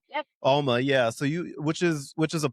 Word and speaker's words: Alma: So you help run, it's pronounced Alma, right? Alma. Yep. Alma, yeah.